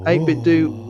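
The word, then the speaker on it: 8BitDo: and i've got this 8-bit do arcade stick pronounce that name why because i found out that's how you're supposed to pronounce it research lewis research i've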